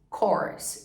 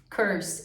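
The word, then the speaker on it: course: ó essa palavra aqui é cortes corce que é um curso muita gente ler essa palavra Curse e Curse é uma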